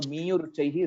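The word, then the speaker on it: मीयुरुच्चैः: So Miyuruchaihi you said. So Miyuruchaihi is the right pronunciation.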